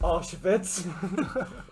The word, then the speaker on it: Auschwitz: It's pronounced Auschwitz.